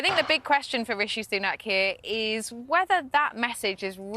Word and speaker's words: Rishi Sunak: Rashid Sunak. I mean, that was pretty breathtaking to get both parts of his name wrong.